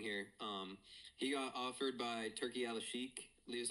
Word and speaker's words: Turki Al-Sheikh: He got offered by Turki Al-Sheikh, is how you pronounce it, like the Saudi guy, to box or have a MMA fight with Conor McGregor.